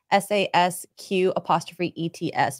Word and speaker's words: sasq'ets: The word Sasquatch, it comes from a Salish word that's pronounced Sasquatch. It's Sasq'ETS, meaning wild man or hairy man.